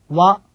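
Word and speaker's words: は: 되겠습니다 자 다음 단어입니다 와 와 우리말에은에 해당하는 주격 조사가 되는데요 원래이 글자는 하라고 읽지만 조사로 사용되는 경우에는 발음을 어떻게 해야 될까요 네네 조사 에는 발음을 와로 된다는 것 꼭 기억해 주시기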